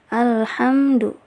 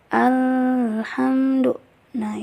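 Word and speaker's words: الحمد: bertemu dengan huruf H maka dibacanya jelas selamnya al-hamdu Hai al-hamdu jadi ada cara baca yang salah sering terjadi ale-ale hamdu aloe jadi terkadang dibacanya itu dipantulkan padahal tidak boleh dipantulkan Lalu ada juga yang membacanya salah itu alhamdu lillah Itu juga salah karena itu ditahan nah padahal tidak boleh ditahan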